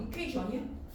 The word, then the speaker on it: equation: 발음 equation이션이 아니고요. 이퀘이션이에요. 특이하게 Ti이 원래 현이라고 발음해야 되잖아. 이퀘이션이야.